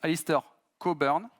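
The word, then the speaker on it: Alistair Cockburn: l'architecture hexagonale qui été inventé par ça se prononce Alister cobern c'est un docteur en informatique et c'est également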